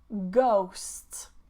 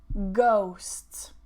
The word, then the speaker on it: ghost: Next one, ghost, ghost, ghost. Okay, no H.